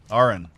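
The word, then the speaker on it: Arran: of the state again Aaron Aaron gotcha I keep putting on fossil our rhymes with car horn RN malt which displays a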